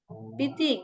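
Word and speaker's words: Pete: Piti, great to see you too. Ya, jadi ini bacanya bukan Piti tapi Pit, ya.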